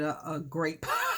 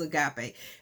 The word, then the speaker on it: agape: a guy play love i call it a grape because i didn't pronounce the word right but the uh it was agape and uh in greek